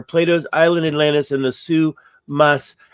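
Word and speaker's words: Souss-Massa: island Atlantis and the Sous Mas. How do they say it? Sous. They pronounce the S here, but they don't pronounce it very strongly here. I heard him, they say Sous Mas.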